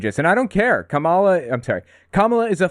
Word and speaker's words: Kamala: knowledge everybody has endorsed Kamala that's how her name's pronounced by the by Kamala not Kamala for what it's worth I thought it was Cala she's the nominee now